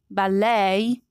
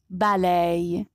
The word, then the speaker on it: ballet: sorry american borrow sorrow words borrowed from french are stressed differently especially if the last letter is a vowel so in american english the second syllable is stressed but in british english the first syllable is distressed look at these examples